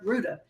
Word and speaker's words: Rouda: Welcome Rudy to the Ruda. It rhymes with Gouda y'all.